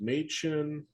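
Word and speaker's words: Mädchen: is name matchin or Ma sorry it's it's pronounced maen and I remember how the other the other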